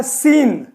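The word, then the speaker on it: scene: देखते हैं तो देखिए एस के बाद आने वाला सी अक्षर साइलेंट होता है हमेशा नहीं लेकिन अक्सर साइलेंट हो जाता है तो इसको देखिए कैसे जैसे हमने लिखा है सीन तो सीन क्या है तो ये सी क्या हो गया साइलेंट हो गया सीन सीन का मतलब दृश्य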